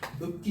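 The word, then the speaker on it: 읊기: 내가 어떻게 발음되니? 읍기 이렇게 되죠.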